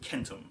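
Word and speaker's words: centum: s sound but um in latin the c's always made a k sound so they would have said kentum for 100 or as we say 100.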